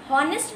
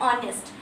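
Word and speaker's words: honest: बहुत लोग इसे हॉनेस्ट भी प्रोनाउंस करते हैं, बट I would like to tell you कि इसका प्रोनाउंसिएशन, जो करेक्ट प्रोनाउंसिएशन होता है वो होता है ऑनेस्ट. इसमें एच को हम साइलेंट कर देते हैं, इसमें हमारा एच साइलेंट होता है, तो साउंड क्या निकल रहा है, ऑनेस्ट.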